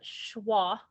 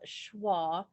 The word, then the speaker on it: schwa: this word together ready the tricky part of that word is the sch because it just sounds like sh so the symbol for